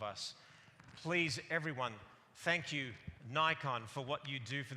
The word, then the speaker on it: Nikon: Nikon. We'll say Nikon again this year. It rhymes with icon for what you've done